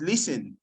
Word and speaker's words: listen: a nice job already listen is silent it's not listening it's listen brilliant okay so do